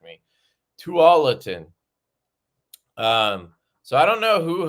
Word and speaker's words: Tualatin: Tualatin.